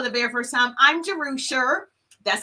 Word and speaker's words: Jerusha: So if you're joining me for the very first time, I'm Jerusha. That's how you pronounce it.